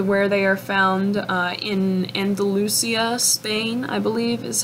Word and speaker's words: Andalusia: And they are named for where they are found in Andalusia, Spain, I believe is how you pronounce that.